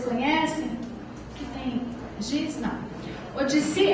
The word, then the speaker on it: Odissi: Odissi é como se fala O-D-I-S-S-I.